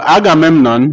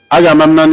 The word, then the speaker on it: Agamemnon: So Agamemnon refuses the offer, even though the others opt for it. Agamemnon is spelled A-G-A-M-E-M-N-O-N, Agamemnon.